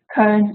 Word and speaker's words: Köln: And I brought you a map, and here you can see where Cologne, Köln, as we pronounce it in German, is where it's located.